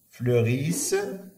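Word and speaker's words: fleurissent: اذا شنو نقولوا سيزاب فلوريس لانها جمع فلوريس وعند كتكمل او ان تي او ان تي ما كتنطقش كيما كتعرف.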